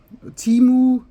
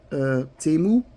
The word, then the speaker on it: Temu: oh I discovered TAMU timu I don't know how you pronounce it over in England or America but we say temu and um I'm oh